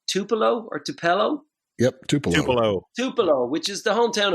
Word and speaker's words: Tupelo: It's spelled Murry, and he's from. Do you say Tupelo or Tupelo? Yep, Tupelo.